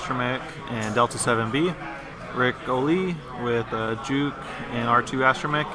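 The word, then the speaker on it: Ric Olié: and Delta 7b Trevor I'm sorry it's pronounced Rick Olay Olay I insist I was just saying it's like Rick allele yes it does he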